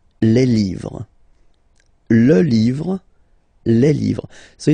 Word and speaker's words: livres: write livre, and then you put S at the end, but then you don't pronounce it. Les livres.